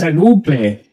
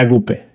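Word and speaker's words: ἀγάπη: una palabra griega, es agape. Creo que se pronuncia agape. He oído muchas diferentes pronunciaciones, pero creo que es agape o agape.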